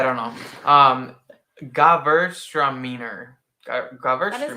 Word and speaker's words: Gewürztraminer: It's Gewürztraminer.